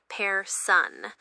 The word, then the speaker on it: personne: It's pronounced with a slightly more forward rolled R, and the N is not pronounced, so it's more like personne.